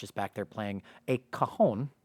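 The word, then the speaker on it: cajon: Um, you know, Josh is back there playing a kahon right now as they're they're pronounced.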